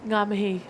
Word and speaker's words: Ngā mihi: Ngā mihi.